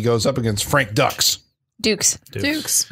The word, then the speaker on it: Dux: Dukes. It's spelled like Dux, but it's Dukes.